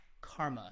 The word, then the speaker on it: CCRMA: And that is Stanford's Center for Computer Research in Music and Acoustics, and that is abbreviated CCRMA, or Karma is kind of how we pronounce it.